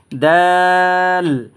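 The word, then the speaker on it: د: যে হরফটা দেখতেছেন না এই হরফটার নাম হচ্ছে দাল অর্থাৎ আপনার উচ্চারণের স্থান হচ্ছে জায়গা হচ্ছে জিহ্বার আগা আপনার জিহ্বার আগা সামনের দাঁতের দুই ঘোড়ায় ঘোড়ার সাথে সমন্বয়ে এই হরফটা উচ্চারিত হয় যেমন তিন আলিফ টানবেন উচ্চারণ করে আমি শোনাচ্ছি দাল দাল এই যে দালের উপরেই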